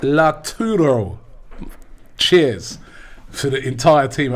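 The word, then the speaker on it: Lautaro: he says robbie can you please stop saying la churro martinez it's pronounced la turo cheers for the entire team at af tv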